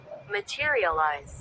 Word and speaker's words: materialize: इसको भी प्रोनाउंस करके दिखाता हूँ आपको, ये देखें, Materialize. मटेरियलाइज, मैं 2 बार एल निकाल रहा हूँ लेकिन एक बार एल निकलेगा, मटेरियलाइज।